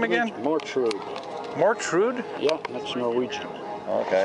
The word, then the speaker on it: Mortrud: okay that's norwegian yeah see mort's death mortuary mortician and all that surely wounded yeah and rude of course is rude yeah a jackass so